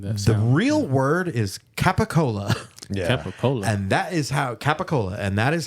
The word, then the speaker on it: capicola: The real word is capicola. Yeah. Capicola. And that is how Italians pronounce capicola is gabagool. Gabagool. It's just gabagool. so like pushed and mushed together that it comes out like gabagool.